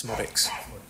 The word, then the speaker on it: Szmodics: Yeah, so the Z's basically silent, so it's Szmodics.